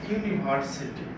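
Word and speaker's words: university: যেমন ইউনিভার্সিটি, এখানে ইউ এটা কিন্তু ভাওয়েল হওয়ার পরেও এটা ইউ উচ্চারণ হচ্ছে, অর্থাৎ ভাওয়েল বসছে বাট ইউ এর মতো উচ্চারণ হচ্ছে।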